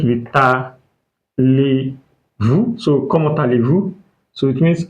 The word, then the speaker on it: comment allez-vous: So, comment allez-vous? So, it means how are you? That is formal. So, let us pronounce it again. What is this? Mhm. Then, very good. So, comment allez-vous?